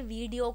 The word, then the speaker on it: video: आइडिया the pronunciation बेटा, वीडियो कुछ नहीं होता बेटा, it only you know gets pronounce like विडियो, ठीक है। आप वी पे ज़्यादा हमें एम्फसाइज नहीं करना है, हम डी पे भले ही कर सकते हैं, ठीक है, विडियो।